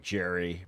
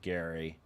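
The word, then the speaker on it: Gerry: If you want to look like Jerry, pronounced Gary, head on over to Factor, guys.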